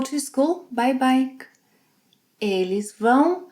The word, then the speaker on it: vão: Vocês, eles, elas, vão. Nasal sound, vão.